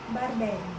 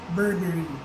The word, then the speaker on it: Burberry: Kaso, usually, yung ibang mga na-encounter ko, they pronounce it as Burberry. Okay. So, itong English brand na to, we call it Burberry. Burberry. So, medyo mabilis.